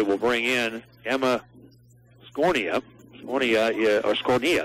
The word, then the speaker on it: Scornia: Scornia, that's the way it's pronounced, the hard K.